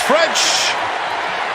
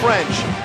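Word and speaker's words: Ffrench: about pronunciation you go is it demores French the first half is silent second and 10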